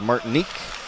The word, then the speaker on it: Martynyuk: Martynyuk, and I checked the spelling with one of the PHA parents, and he told me it was pronounced Martinique. That's a nice French-Canadian pronunciation.